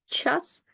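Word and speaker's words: час: this effect on CH for example in word Chas you will actually hear the soft counterpart because CH not only it doesn't budge and change the sound but it actually changes the sound of the vowel Chas chess that's pretty much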